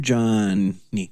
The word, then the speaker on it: Johnny: And I am Johnny.